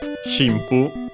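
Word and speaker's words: 神父: mostly uh means uh shimpoo uh is the one shu accented on the first syllable.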